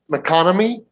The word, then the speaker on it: MacConomy: So from the seat in the audience here, I just want to introduce our speaker, Scott MacConomy. Did I pronounce that correctly? Yes, you did.